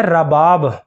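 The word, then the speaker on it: رَباب: Number تین پر نام ہے رباب، را کے اوپر زبر کے ساتھ رباب. یہ بھی ایک صحابیہ کا اسم گرامی ہے.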